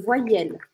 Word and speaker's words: voyelles: Em francês, as vogais a gente fala les voyelles. Les voyelles, tá? Como se eu pronunciasse assim, ó. Voyelle. Para o som no L.